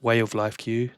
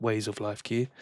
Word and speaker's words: Way of Life Q: I keep saying it wrong. It's Way of Life Q, not Ways of Life Q.